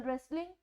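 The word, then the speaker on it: wrestling: अगर like example रेसलिंग, रेसलिंग में भी हम रे से साउंड शुरू करते हैं, हम W की कोई साउंड नहीं देते हैं क्योंकि जो W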